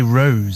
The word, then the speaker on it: Rós: It's actually, you're supposed to say Rose.